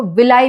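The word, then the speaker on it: villi: Type के ऐसे ऐसे वाले बहुत सारे इनको क्या बोलते हैं? इनको विली बोलते हैं। कई सारे इसको विलाई भी प्रोनाउंस करते हैं। Both are correct.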